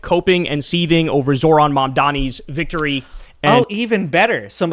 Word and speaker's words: Mamdani: He still doesn't know how to say his name. It's Mamdani. Mamdani. It's not that hard.